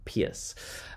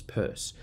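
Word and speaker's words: Peirce: Charles Sanders purse now you pronounce his last name purse even though the way it spelled you when you say Pierce um so sometimes people say trust and disappears but apparently the correct pronunciation was Charles Sanders purse now chances are you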